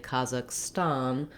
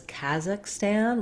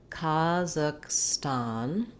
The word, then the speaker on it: Kazakhstan: So now I would say in the US, more people would say Kazakhstan with that same ah vowel in the last syllable as well. In British English, I also saw it depicted as Kazakhstan with an ah, black cat vowel in both places. I would avoid that, although you may hear it sometimes when you're listening to native speakers.